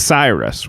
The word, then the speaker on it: Cyrus: Some of you may pronounce that Cyrus, which I'm told is also acceptable.